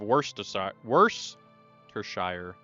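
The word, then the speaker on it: Worcestershire: you a big ass pronounce worstershire. That's how I pronounce it. Or you have worst worstershire. Some people go worst. Worst shire.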